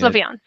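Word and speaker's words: Slavyansk: I'm perhaps I'm mispronouncing it. Slavansk.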